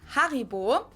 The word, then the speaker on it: Haribo: We pronounce it Haribo. Oh, okay. Haribo.